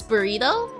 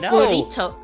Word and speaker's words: burrito: how most people pronounce burrito they only say like burrito they're supposed to be a tea not a d no but no one